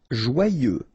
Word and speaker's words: joyeux: Joyeux. Final X not pronounced, and then joyeux. Okay?